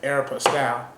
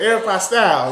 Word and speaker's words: Aeropostale: Southern Comfort, and it's like Aeropostale. Did I pronounce that right?